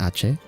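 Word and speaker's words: Aceh: So, first off, we've got these rebels in a Ace. I I believe it's pronounced Ache.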